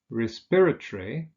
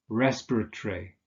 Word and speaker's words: respiratory: Now, with those adjectives that have 4 syllables, that consist of 4 syllables, we usually stress the second syllable. So we say respiratory, conciliatory, defamatory, explanatory. There are also, for some of these words, there are variants such as respiratory, or in American English, respiratory.